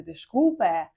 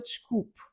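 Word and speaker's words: desculpe: Але ми його, звісно, не вимовляємо як е, не дешкупе, а просто чкуп. Воно з'їдається, не вимовляється.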